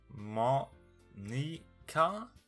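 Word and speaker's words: Monika: woman it's writing a name Monica there's not pronounced Monica like mah nica and not Monica and what the stuffing you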